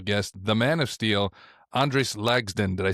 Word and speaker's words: Andris: Andris. But people do want an accent on that last part of the name, just because the way it looks. But it's literally just like it's spelled. Andris is perfect.